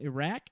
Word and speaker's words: Iraq: Então, primeiro que Iraque, no inglês eles falam Iraq, ok? Pronunciam aqui comigo, Iraq.